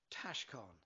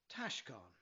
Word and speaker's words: Taoscán: The first syllable is pronounced tash, like cash, and the second syllable is con, as in lawn. Put it all together now. Taoscan. Taoscan.